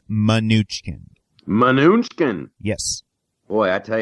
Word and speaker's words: Mnuchin: So we should clarify, according to the internet, which is never wrong, his name is pronounced Mnuchin.